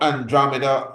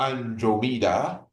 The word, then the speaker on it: Andromeda: Now, Andromeda or Andromeda, depending on how you pronounce it, is the daughter of the Ethiopian king, Kephas, and the daughter of the Ethiopian queen, Cassiopeia.